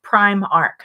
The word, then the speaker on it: Primark: Pinky Sand says it's pronounced Primark.